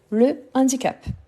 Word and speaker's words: handicap: nickel merci en fait handicap c'est un H aspéré donc c'est le handicap le handicap c'est un